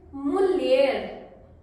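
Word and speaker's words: mulher: मरीद wife को बोलेंगे मूलर मूलर देखो हिंदी में लिखा हुआ है मूलर okay so this is मलर एक और शब्द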